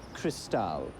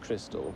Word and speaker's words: Cristal: It's pronounced Cristal, not crystal, though the bottle is actually crystal.